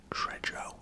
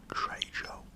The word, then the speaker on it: Trejo: died for him to say his name right Trejo Trejo oh let's get the rains for those two